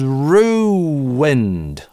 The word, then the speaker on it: ruined: Was ruined. Like wind, some wind that blows. Ruined - здесь у нас linking [w], потому что долгий /uː/ со следующим гласным свяжется только через linking [w].